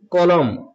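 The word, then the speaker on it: column: কারণ কি নিয়ম হচ্ছে যখন এম এর পর এন থাকবে তো এখানে এম এর পর এন আছে অতএব এখানে এন লেটারটি পড়া যাবে না এটি সাইলেন্ট হবে যেমন কলম এখানে এনটি সাইলেন্ট হবে এটা হ্যাম পড়তে হবে।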